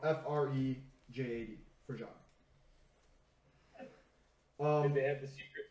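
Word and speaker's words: Frejad: They were simply known as the Frajad, which roughly translates into the people of ice. And that's spelled F-R-E-J-A-D, Frajad.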